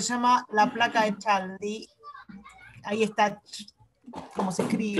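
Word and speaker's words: Chladni: llama la placa de Cladley. Ahí está, como se escribe. Cladney para mí es, o sea, la, el CH hay que resignarla.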